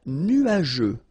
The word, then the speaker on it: nuageux: Un ciel nuageux. This can be quite tricky, but take the time to nu-a-jeux. Remember, final X here, not pronounced. Nu-a-jeux. Okay? Nuageux.